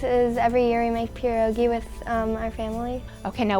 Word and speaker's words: pierogi: my favorite things is every year we make pierogi with our family okay now what no can